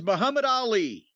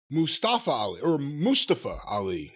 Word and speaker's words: Mustafa Ali: So then, Bronson Reed versus Muhammad Ali. Mustafa Ali is how they pronounce it.